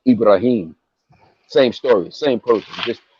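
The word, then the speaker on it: إبراهيم: And in the Quran you pronounce it Ibrahim.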